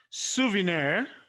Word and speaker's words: souvenir: the nc level two souvenir the stress is there debonair so the stress